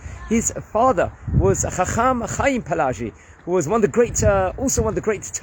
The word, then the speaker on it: Palacci: rabbi named Rabbi Avraham Palacci, and it could be pronounced various different ways, or Palachi.